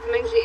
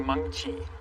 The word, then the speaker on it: Meng Chi: Mengji, that's how you pronounce her name. It's actually Meng Chi, and it has tone to it. It's Meng Chi.